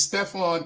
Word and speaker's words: Stephan: It's Stefan. Actually, it's pronounced.